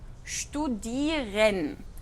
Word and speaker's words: studieren: Tenemos ST, entonces ahí la pronunciación es como SHT, studieren.